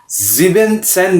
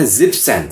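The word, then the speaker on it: siebzehn: जिबन सैन नहीं कहना, आपने कहना जिप्सन।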